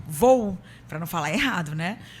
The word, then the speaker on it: Vow: é presidente do grupo como é que você pronuncia isso para não falar errado grupo V vou para não falar errado né grupo v e